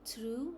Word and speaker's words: through: Uh for instance if we talk about o u gh in through it is oo sound in rough it is sound and in though it has o sound.